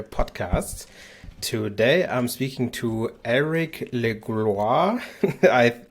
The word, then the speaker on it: Elric Legloire: Today I'm speaking to Elric Legloire. I think I totally messed that up, so you will have a chance to pronounce your name again. Welcome, Elric. Thanks, Aaron. And no, you pronounce it correctly, so thank you for doing Wow.